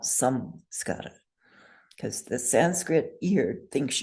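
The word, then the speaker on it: saṃskāra: So if you had an Anusvara like samskara with the fourth Varga S, what letter would you change that M to? To an N. Yes. A plain N. Fourth Varga plain N, plain American English N. So that's why Geshe Michael would want us to write and to say sanskara, not samskara, because the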